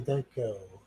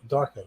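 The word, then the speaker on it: Donnie Darko: west end right you see the movie donnie danko no darko no i have not second you pronounce it it's a satisfying movement that's what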